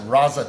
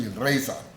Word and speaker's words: raza: it the concept was raaza people pronounce it razza today but it's really Raza ra a zaa and it was defined